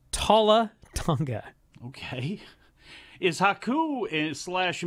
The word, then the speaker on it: Talla: well now we've got more bloodline we've got talat Tanga coming in that that feels the name